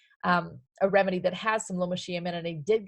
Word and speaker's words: Lomatium: Lomatium is how you pronounce that.